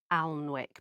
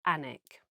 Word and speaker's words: Alnwick: We are popping away for 2 days to the Northumbrian coast, up to, now it's spelt A-L-N, Alnwick, but I think it's pronounced Alnwick.